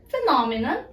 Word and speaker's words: phenomenon: Okay, for this phenomenon, P and H sounds like F. So we need to make P and H and E as F sound.